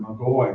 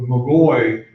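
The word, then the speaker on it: magoi: is literally and originally the word mcgoy or actually pronouncing on devoted or Magi it's m-a-g-o-i the head over all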